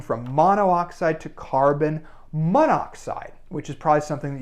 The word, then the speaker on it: monoxide: an awkward pronunciation problem we only really have this problem with oxide because it begins in O and so we get rid of the O here and mono and we get monoxide then we don't have